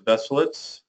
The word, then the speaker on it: Veselitz: Initials, AV for Alex Veselitz. He pronounces Veselitz, but I like Veselitz.